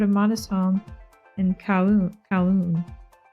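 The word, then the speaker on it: Kowloon: Cowoon. I think it's Cowoon. Cowoon. I I don't think the L the L is not pronounced.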